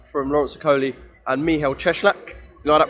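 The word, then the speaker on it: Cieślak: one day out from laurence coley and mihail cheschlach you know that pronunciation i learned that yesterday from people with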